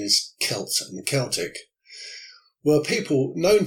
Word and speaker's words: Celts: spelled see elts and so you might say cells and the Celtic but the correct pronunciation is Celts and Celtic were people known to the Romans